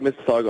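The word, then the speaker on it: Mississauga: Dylan stro hails from Miss Saga Canada did I did I pronounce that correctly am I close yeah it' be like Miss Saga Ontario but yeah you got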